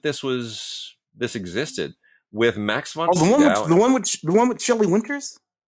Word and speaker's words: Sydow: Of The Diary of Anne Frank with Max von Sydow, or Shudo, as you were supposed to pronounce it.